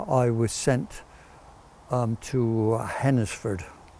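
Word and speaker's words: Hednesford: was sent um to hennesford or hensford i believe it's pronounced locally but it's near rougely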